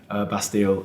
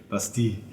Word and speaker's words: Bastille: Yeah, we in our terrible English accents we say Bastille, even though it's clearly Bastille in French.